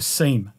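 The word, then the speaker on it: SIEM: and event management solution or a seam or a sim depending on how you say it you've also got as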